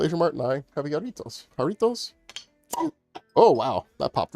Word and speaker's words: Jarritos: And I went to my local Asian Mart and I have jarritos. Jarritos? Oh, wow. That popped really loud. Also hit me in the neck, because J is pronounced H in Spanish.